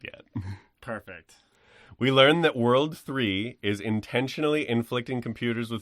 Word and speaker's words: WWW: During the events of the first game, the evil syndicate WWW, pronounced World 3.